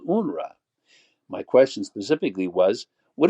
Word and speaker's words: UNRWA: this UNR official and by the way unrah that's pronunciation of unrwa stands for the United